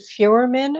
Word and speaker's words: Feuerman: Is it Feuerman? Am I pronouncing it right?